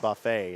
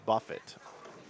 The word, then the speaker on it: Buffett: and the guy goes it's not Buffet it's Buffett and he was reading